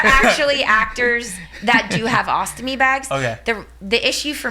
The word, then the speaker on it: ostomy: Is it ostomy or ostomy? Ostomy. With an M.